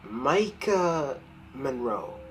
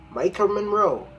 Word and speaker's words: Maika Monroe: stars for some reason no one can say her name right but I'll say it Micah Monroe yeah he Micah Monroe now she has been